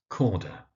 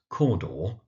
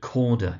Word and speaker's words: Cawdor: Glamis, that's Glamis, and we have Corda, that's Corda. Now, Glamis, because it's spelt with an I, is sometimes mispronounced as Glamis. It doesn't really hurt anyone, but it is actually Glamis. And Corda is sometimes pronounced Cawdor by people, but Corda is actually more standard.